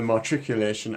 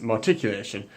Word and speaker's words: matriculation: I might have referred to the matriculation as marticulation, and that is not the correct pronunciation.